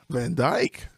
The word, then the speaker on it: Van Dijk: We are here today with our special guest, Charlene Van Dijk. Van Dijk. Okay, that's not how it's spelled.